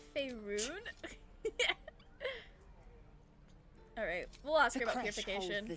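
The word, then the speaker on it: Faerûn: You will educate me on matters of this Fey run. Actually, it's Faerun.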